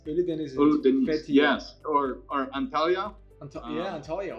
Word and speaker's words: Ölüdeniz: Uldunez. I can't pronounce it. I apologize. No, that's the place that you were telling me. It's Ölüdeniz. Ölüdeniz.